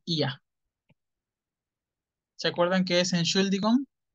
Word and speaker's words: Ihr: Se pronuncia IA.